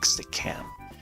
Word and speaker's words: Stickcam: Stickcam, so you spell that as stick and then AM, like Stickcam. Emphasis on the cam.